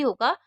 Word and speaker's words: who: में से कोई भी होगा तो H को नहीं पढ़ते हैं। तो यहाँ पर WH के बाद O है, तो जहाँ भी O होगा वहाँ पर हम W को साइलेंट रखेंगे।